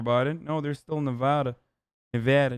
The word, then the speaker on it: Nevada: no there's still nevada nevada nevada i'm sorry hassan it's pronounced get it right i'm not hearing maricopa